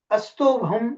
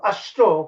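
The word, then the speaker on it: अस्तोभम्: Astobham, not Ashto, okay? How you pronounce make a big difference in the meaning. Ashta means eightfold, right? But it's not in that sense given. It's called Asto.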